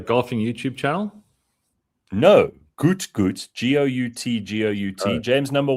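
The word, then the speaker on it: Gout Gout: Oh, is it Gout? Well, that's how English works, yeah. G-O-U-T. I think he would pronounce it Goot, and I don't call you Bean.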